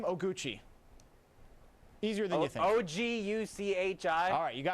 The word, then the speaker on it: Oguchi: right, first name Oguchi.